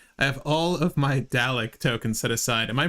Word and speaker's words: Dalek: I have all of my Dalek tokens set aside. Am I pronouncing that correctly? Dalek? Dalek?